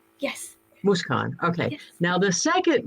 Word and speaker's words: Mooskaan: think i got the first right okay it's moose khan yes moose khan okay now the second name is the harder